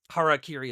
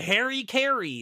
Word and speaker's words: harakiri: Harakiri is the term for that. And back in the day, in the old world war days, the Harry Kerry is how they would pronounce it. you know, the good old boys from the forces. So, he might be saying it wrong and as a result,